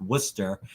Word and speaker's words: Worcester: It's spelled Worcester, but it's pronounced Worcester.